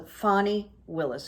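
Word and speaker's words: Fani Willis: her name uh it it doesn't sound like it's spelled so fanny willis who's a force um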